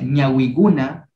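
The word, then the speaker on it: ñawikuna: Si yo aquí yo lo aumento ñawi, que se pronuncia ñawi guna, solo el kuna nomás lo aumento, ¿ya?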